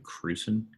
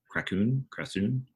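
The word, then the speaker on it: Kračun: By the way, the cinematographer's name is, I might mispronounce his last name, Benjamin Cruson. I'm sorry, Krasoon.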